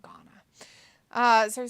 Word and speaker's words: Ghana: his own Library and Guana Ghana Ghana that's how you say it Ghana uh so he says